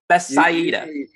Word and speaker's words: Bethsaida: And then we're going to get over Bethsaida? Bethsaida? Bethsaida. You try to pronounce all the vowels somehow.